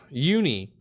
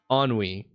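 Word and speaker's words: ennui: Um, uni. Oh, it's on on. That's how it says it's pronounced. Ah, n we e. Onwi.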